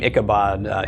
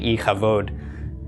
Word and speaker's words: Ichabod: it could be all right like the name hick Abad is actually iike vote which means there is no glory that's the